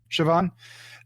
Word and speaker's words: Siobhan: And I would say like the only relationship, and they tried to do it with Johnny and Sibon? How do you pronounce her name? Siobhan.